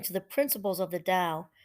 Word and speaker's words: Tao: the principles of the Tao pronounced Dao d-o-w which they believe governs